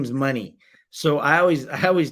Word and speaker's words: Money: because they're like okay it can't be money it's spelled like money it's so hilarious my kids are just like Mooney where do they get